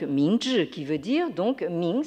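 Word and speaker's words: 明治: Meiji se prononce en chinois donc Mingzhi, qui veut dire donc Ming, c'est la lumière.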